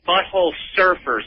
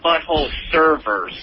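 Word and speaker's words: Butthole Surfers: uh somebody tell spaz it's but hole Surfers not butthole servers an out to pronunciation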